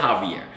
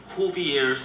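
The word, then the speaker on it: Jouvier: We don't pronounce our J's with H's. We're in America. Joovier. It's not that hard.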